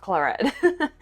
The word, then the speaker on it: claret: Somebody told me it's pronounced claret and claret, so I'm going with claret.